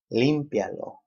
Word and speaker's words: límpialo: Límpialo, third to the last syllable, because these are commands.